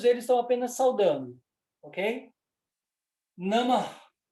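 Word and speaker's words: नमः: Namah. Namah. No final, a gente pronuncia esse eco.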